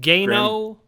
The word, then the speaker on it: Gano: Yeah, and he could pronounce his name many different ways. How do you say his name? Gano.